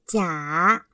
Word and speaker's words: 假: 这个字有两种读音，一是架